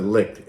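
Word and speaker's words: Licht: lick licked oh licked I think he pronounced it licked l-i-c-h-t like the 22nd floor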